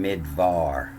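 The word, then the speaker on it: מדבר: And you can see what I was talking about before, that they'll change the B to a V when they pronounce it sometime. So now it's in midvar, in the numbers 1.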